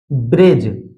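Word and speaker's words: bridge: रहता है जैसे जैसे ब्रिज ब्रिज में आप देख सकते हैं यहां पर जी से पहले डी आया है इसलिए डी साइलेंट है सीधा पढ़ा गया है ब्रिज इसी तरह है एज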